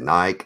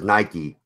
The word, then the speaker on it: Nike: Nike is not pronounced like Mike. I pronounce it like Nike. Everybody else says Nike.